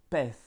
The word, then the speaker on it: pez: Tous les Z de la langue espagnole se prononcent comme un F, hein, le TH espagnol. Le TH anglais. Par exemple, nous avons le mot pez, donc poisson, en espagnol pez, ou bien una vez.